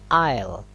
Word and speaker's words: oil: on the search all ini bacanya air bukan Eiffel bukan l tapi oil ya Hai ada di